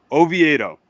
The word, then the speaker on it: Oviedo: I can but uh Johann a veto Oviedo Oviedo yes how do you feel about that matchup